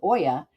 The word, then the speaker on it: olla: Olla irrigation, Olla, looks like Olla, but pronounced Oya, dates back at least 4,000 years to ancient China and Persia.